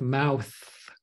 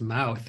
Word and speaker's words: mouth: Same with mouth. It doesn't come out as mouth, it comes out as mout.